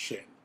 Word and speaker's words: Zhayynn: And so Zhayynn is how my name is spelled, but it's pronounced Shane.